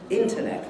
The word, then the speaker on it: internet: But it must be internet. Internet, with the stress on the first syllable. And there are two unstressed syllables following internet. If you move the stress to the middle syllable, no, you've spoiled it.